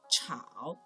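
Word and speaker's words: 炒: which is very similar to the big character chao so one part implying the meaning and the other part implying the pronunciation do you still remember what kind of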